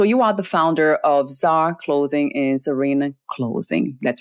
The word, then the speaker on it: Czar: to see this spelling there's a C before the Z so so you are the founder of Zar clothing and Serena clothing